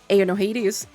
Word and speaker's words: Aono: name which is um Aon Noah. Uh it's not pronounced as AO, it's pronounced as O. And that is blue in Japanese if you are not aware of it.